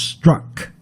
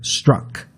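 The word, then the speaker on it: Strzok: peculiar spelling st r:z okay but it is pronounced struck within you almost like a you sounding Peter struck well I'm reading up here on agent struck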